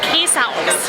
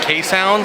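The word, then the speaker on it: Keeshond: They're called K-sounds. K-sounds? Yep. So it sounds like K-sound. Well, a little bit. There's like a Z pronunciation in there.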